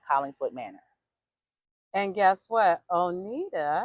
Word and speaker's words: O'Neida: Manor and guess what onita am I saying it correctly yes you are is a graduate and